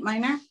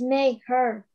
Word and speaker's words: Mayher: That looks great, Minor. Or Mayor, I said your name wrong. I'm so sorry. It's Mayher.